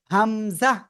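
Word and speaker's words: همزة: ঠিক আছে ঠিক আছে এবার এই হামজাটা সিম্পল উচ্চারণ হবে হামজাহ হামজাহ সবাই উচ্চারণ করেন হামজা ওকে এবার আমরা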